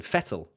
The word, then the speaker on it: Vettel: fair you call Sebastian Vettel Sebastian fettle then because that's how better it's an F fatal settle okay so